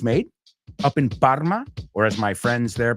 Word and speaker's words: Parma: it's made up in Parma, or as my friends there pronounce it, Bahma? They have like almost like a French R up there in some of the villages in Parma in that area.